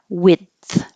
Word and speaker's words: width: Width.